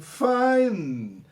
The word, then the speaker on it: fine: Então a pessoa responde, a Sarah responde fine, fine. Olha a pronúncia, não falo né? Fine. Em final de palavras em inglês, repito mais uma vez, é coisa que praticamente não se pronuncia.